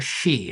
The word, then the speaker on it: Hsee: Well, this was an experiment devised by Christopher Shee at the University of Chicago. His name is spelled Hsee, if you want to look this up.